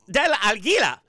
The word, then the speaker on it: Del Aguila: our guest um Kevin Del alila now that's how you should say it because it means of The Eagle right um I have